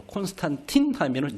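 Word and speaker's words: Constantine: 황제 콘스탄티노스 콘스탄틴이라고 그러죠 콘스탄틴 노스라고 하면 라틴식 바람이고 콘스탄틴하면 영어식 발음입니다 그렇죠 어거스틴 하면은 영어식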